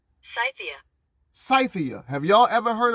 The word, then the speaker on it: Scythia: Let's pronounce that right. Scythia.